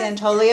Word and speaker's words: Santoli: And Santoli, did I pronounce that right? Yes. Santoli of the Tommy Fund is joining us today.